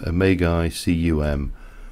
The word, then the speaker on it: Magicum: Yeah, so the mod is a magic mod, and it's called Magicum. But it's just the exact way it's spelled, Mage cum, and it's just like